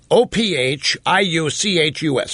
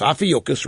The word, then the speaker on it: Ophiuchus: It's Ophiuchus. Ophiuchus rhymes with mucus.